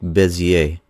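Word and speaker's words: Bézier: And if you're from France or another European country, you might pronounce that as cubic Bezier.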